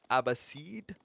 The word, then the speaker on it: Abbasid: the pronunciation of the abbasids by the way there is two ways to pronounce the ambassadors correctly i believe the american way is the abbasid uh whereas the british